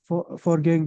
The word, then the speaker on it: foreign: Have you ever lived in the foreign country? No, I haven't. Wait, Ghadi, Have this you- is what? Foreign? The G is silent.